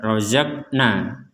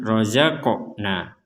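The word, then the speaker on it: رَزَقْنَا: Jadi kita tidak hanya membaca rozakna, tapi dibaca dipantulkan rozaqna. Razaqnahum yunfikun.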